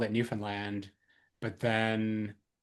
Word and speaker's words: Newfoundland: I don't even know how to pronounce that. Where's that? Is that a real place? It's Newfoundland.